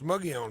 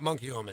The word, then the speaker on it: Muggione: People who've lived here all their lives can't pronounce Muggione, but he can. Moglione. Monkey Omen. Oh, yeah. That's a favorite. His lady goes, what does Monkey Omen mean? It's not Monkey Omen, it's Muggione.